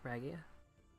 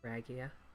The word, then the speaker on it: Ragia: There are very few people that know about these keys and know about Ragia. Is that how you pronounce it? Ragia? Right, yeah. Ragia.